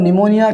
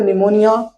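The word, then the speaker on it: pneumonia: typhoid D से होता है आपका डिफ्थीरिया डिफ्थीरिया पी से आपका होता है निमोनिया क्योंकि पी साइलेंट रहता है एन ई यू एम ओ एन आई ए ठीक है इस तरह से निमोनिया को लिखा जाता है तो पी से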